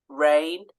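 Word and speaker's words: reign: need to remember um words such as resign rain have that silent G okay so these are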